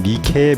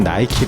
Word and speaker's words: 나이키: 시크릿의 가지 였으며 이중 크리스 시나 승리의 여신인 니케 미국식 발음을 딴 나이키 로 회사명을 정하게 됩니다